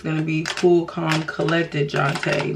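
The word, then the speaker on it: Jontée: it wrong it's spelled j-o-n-t-e-e and I do have an accent over my first e because my mom took French in high school so instead of it being John T it is jonte Bam okay Cindy knew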